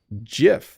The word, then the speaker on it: GIF: let me see here let's look up um how to pronounce gif so let's see here Jif that's what it says that it's supposed to be GIF but I say GIF or GIF I think